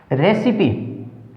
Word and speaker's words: recipe: तो कैसे, देखिए वर्ड एक बार, फिनाले, FINALE, ई आया है और उच्चारण भी ई का हुआ है, ई की मात्रा जोड़ी गई है, ठीक है। रेसिपी, RECIPE, रेसिपी, ई की मात्रा जोड़ी गई है, ठीक है।